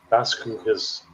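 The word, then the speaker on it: Las Cruces: Las Crucis.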